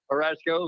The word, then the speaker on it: Harashiko: You've got Loki Antonio and Madison Teague off to a great start, and also Arden Harashiko. I hope I pronounced that right. Close enough. It gets pronounced Harashiko, but yeah.